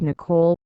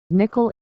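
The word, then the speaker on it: Nicoll: an immense word of five volumes by Maurice Nicole remember I have always pronounced his name Morris Nicole just this evening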